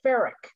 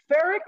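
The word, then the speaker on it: freekeh: called a heard of farrick it's spelled f-r-e-e-k-e-h and it's pronounced f it's pronounced more like f-a-r-i-k ferric ferric is a cereal food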